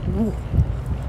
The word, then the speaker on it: Ł: exist in English, but it's an L with a cross through it, and it's pronounced Wu. So Łódź.